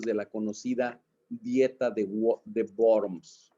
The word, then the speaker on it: Worms: la conocida dieta de worms en alemán la w se pronuncia como como ve la dieta de worms donde se le pidió